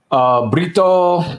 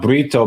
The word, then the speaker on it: Brito: It looks like the proper pronunciation is not Brito, but Brito.